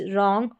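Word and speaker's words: wrong: Examples देखेंगे तो यहां पर है राइट, रॉन्ग और रैप। तो यहां पर डब्ल्यू आर है स्टार्टिंग में डब्ल्यू आर और यहां पर आर जो है उसका उच्चारण ड करके हो रहा है। डब्ल्यू साइलेंट है। यानी कि डब्ल्यू आर को आप सीधा र पढ़ दें।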